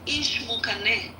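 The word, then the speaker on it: Ixmucané: But the way you pronounce them, so the first one is Ixinche. The second one is Ishmukane, and the third one is Xylofono.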